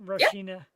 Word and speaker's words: Rashina: Rashina.